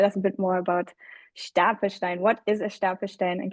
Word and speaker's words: Stapelstein: And we'll hear Stefan's story, being the founder of a company called Stapelstein. I'm going to use the German pronunciation, but I'm meaning Stapelstein.